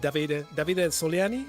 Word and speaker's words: Davide Soliani: Grant, now that you talked about Davide Soliani, I don't know how to pronounce it, but no, that's right, Davide.